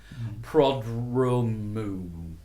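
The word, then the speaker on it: Prodromou: Then reporting to them is Tim Goss, Neil Oatley, and Peter I always get his name wrong. Prodromu. Prodromu.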